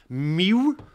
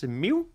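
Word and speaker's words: Miiw: It's a Miu, M-I-I-W. It's one of those Xiaomi brands that nobody knows how to pronounce. Miu. It's a Miu.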